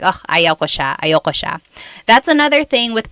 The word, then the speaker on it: ayoko: oh, ayaw ko siya, ayoko siya. That's another thing with pronunciation. Usually it's pronounced ayoko siya. So if you want to sound a little bit more natural, you put everything together, ayoko siya.